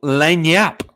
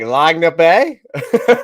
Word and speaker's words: lagniappe: things with the spring game and a little lane yap to finish the show off i do not know how to pronounce it yeah i was like lagna bay oh my goodness lane yeah laying out yes